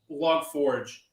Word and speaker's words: Log4j: hutchins who said that it was actually supposed to be pronounced log forge i i heard that